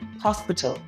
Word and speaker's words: hospital: same as English but in Spanish H is silent so it turns it